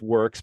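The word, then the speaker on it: Whirks: spelled w-h-i-r-k-s so it's it's pronounced works but it's spelled not as you would typically think of it but tell us that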